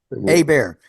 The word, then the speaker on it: Hebert: sign is Larry and your name is pronounced a bear Larry a bear I refuse to be